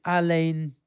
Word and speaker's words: Alain: And is it Alan or Alain? I can't even know how you pronounce it. Anyway, I'm sure you recognize his voice. It is Alain de Botton.